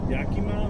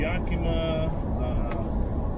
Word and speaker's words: Yakima: washington but it's uh i believe it's pronounced yakima or something like that which is pretty much either east side of washington so i'm doing that and i also have i'm going to yakima lake moses pascal and